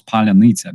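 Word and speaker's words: паляниця: in March 2022, I taught him how to pronounce Palyanica, because we use this word to, identify Russian spies. And it took him some effort, like for real, but he could say Palyanica almost perfectly.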